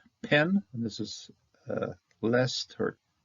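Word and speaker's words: פ: Often, if it's standing by itself like this, it's not going to have a dagesh, so it's going to be pronounced with the F. If you have a dagesh, it's going to be a P. If no dagesh, it's going to be an F.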